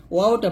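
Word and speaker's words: و: তো ওয়াও জবর কি হবে, ওয়াও জবর ওয়া হবে, ওয়াও জবর ওয়া। দুই ঠোঁট গোল করে ওই ঠোঁট থেকে আপনাকে উচ্চারণটা নিয়ে আসতে হবে। কি হবে, ঠোঁট কি হবে, ঠোঁট গোল হবে।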